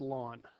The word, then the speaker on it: ln: natural logarithm okay and it's given the notation Ln okay and it's pronounced lawn so log to the base e of X is actually lawn of X is what